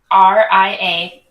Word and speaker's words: Ria: R-I-A. Like Rio, like the one I just gave you, but with an A.